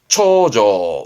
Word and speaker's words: 重畳: 중첩돼 있다는 의미의 중첩의 첩, 초조.